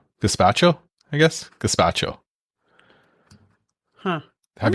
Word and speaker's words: gazpacho: Here, gazpacho. That's the pronunciation.